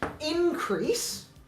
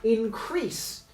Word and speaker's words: increase: This is a noun and this is a verb. This is increase as in the company has seen an increase in profits last year and increase as in we have helped the company increase its profits last year.